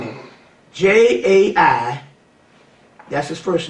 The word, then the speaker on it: Jai: You need to get a guy by the name of J-A-I, that's his first name, Jai Uttal.